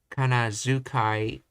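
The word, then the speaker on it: 仮名遣い: For example, the word kana to Kanazukai romanized kana Kanadukai romanized Kanadukai in Nihon Shiki is pronounced Kanazukai in the standard modern Japanese.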